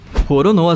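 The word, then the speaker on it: Roronoa: inimigo que fazia parte do bando do bug rono a Zoro teve seu nome baseado no pirata francês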